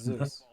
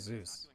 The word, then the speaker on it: Zeus: It's Zeus. His name is Zeus. It's Zeus. Zeus. How does he pronounce it, huh?